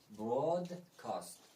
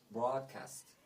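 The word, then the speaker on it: broadcast: هشدار دادن واژه دوم اگر تلفظی هم بریتانیایی این واژه رو بگیم براد کاست نه دیگه برود کاست برود کاست اگر امریکایی بگیم برادکست برادکست خب در ابتدا بعضی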